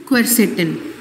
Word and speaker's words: quercetin: in onion which is quercetin okay let me spell it out for you please note it down q u e r c e d i n quercetin okay this quercetin has